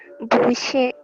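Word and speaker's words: 不谢: Busie. Ya, bacanya itu. Busie. Nggak ada dua. Busie. Xie. Tukar. 现在换 tukar. 谢谢。Busie. Busie. Busie. Ingat ya, busie itu nada kedua sama nada keempat.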